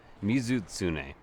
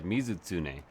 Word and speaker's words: Mizutsune: Ah, Mizutsune. I'm actually pronouncing it incorrectly, I think, unless they change it. Yeah, Mizutsune.